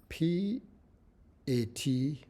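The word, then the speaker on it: PHAT: So when you say this syllable, P-A-T or P-H-A-T, or whatever you call pat, this syllable, The sound is sharp and sudden.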